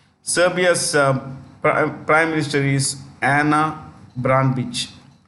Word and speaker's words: Brnabić: Serbia's prime minister is Ana Brnabić. Brnabić. It's the C is pronounced with this Brnabić.